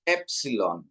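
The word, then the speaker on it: έψιλον: Ini penekanannya di atas epsilon. Epsilon ya.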